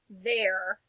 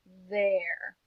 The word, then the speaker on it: there: Yeah, we see the serious silent E. But is it following the rule or is this a trickster? Is silent E making this E say its name? There. Nope. So this is definitely a trickster.